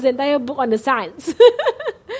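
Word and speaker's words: سعد: name in our society because it's spelled S-A-D, said, you know. So it's not a common name, but it's Sa'ad. Sa'ad is Sin Ain Dal. Sa'ad. Huh? Yeah. Happiness. It's not sad.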